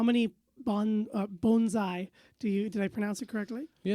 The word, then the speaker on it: bonsai: of a syntax correction so it's bone Z so bone like give a dog a bone saigh that's how you say it bonai bonai perfect because I think all of us say Bonsai yeah just kind of